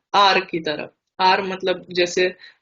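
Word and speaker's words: кот: क, ओ, त, कोत। कोत मीन्स बिल्ली, मामा मीन्स मदर।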